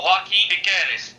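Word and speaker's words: Joaquín Piquerez: esquerdo que veio do Penharol, que é o Joaquim Piqueres. É isso? Isso, tá certo. Beleza. É a pronúncia.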